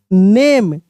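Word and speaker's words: gnome: देखिए आर you please right देखिए W silent है right your नेम नेम द नोम ji silent रहेगा क्योंकि जी के साथ एन है नोम केम आउट केम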